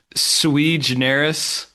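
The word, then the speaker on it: sui generis: I think it's pronounced sui jaenerys and it's it means like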